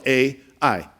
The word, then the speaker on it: Ai: The name is spelled A-I, thus Ai.